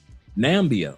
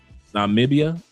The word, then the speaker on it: Namibia: Nambia or I hope I pronounced that correctly. Namibia.